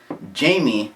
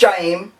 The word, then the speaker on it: Jaime: but yeah my presentation is on Jamie it's Jaheim I didn't even finish